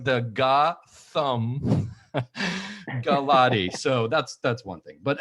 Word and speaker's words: Gautam Gulati: So first of all, I love how you say pronunciation, because I like the Ga-Thumb Ga-Lotty.